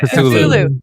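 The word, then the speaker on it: Cthulhu: How do you pronounce it? Chatulu custom pipe by Chatulu.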